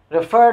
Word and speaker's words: refer: Refer doesn't rhyme with defer.